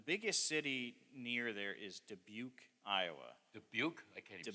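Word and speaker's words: Dubuque: city near there is debuk Iowa debuk I can't even spell that yeah and and it it it doesn't even look like how it's pronounced either it's uh but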